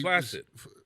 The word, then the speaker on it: flaccid: And one day that word was flaccid, and he flaccid. Flaccid. It's with a hard C because a lot of people do it with a soft C.